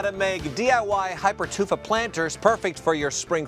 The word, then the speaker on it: hypertufa: Here showing us how to make DIY Hypertufa planters perfect for your spring flowers is Ken. Ken, please explain to me what I just said. Right. I figured that was coming right away. Well, what a Hypertufa?